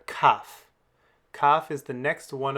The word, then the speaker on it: kaf: Well, for kaf, the one that we can continually pronounce is that sound that's just like het. The one that's a stop is like the letter K in the word kid. K.